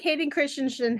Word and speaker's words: Hayden Christensen: And I think Hayden Christensen happened.